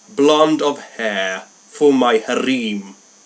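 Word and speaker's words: harem: of hair for my harim I call it haram he called it harim same thing different pronunciation oh really a blond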